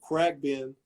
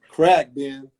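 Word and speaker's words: Khruangbin: i'm a big fan right now that group crack ben i keep saying it wrong but it's um crack man correct it's like crack then but it's it's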